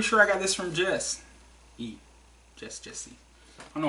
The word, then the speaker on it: Jesse: I'm not sure if it's Jess or Jesse. It's J-E-S-S-E. I want to pronounce it Jesse. It's probably actually Jess. I don't come across... about the only Jesse's I think I ever known was J-E-S-S-E, and he pronounced it Jesse, not Jess.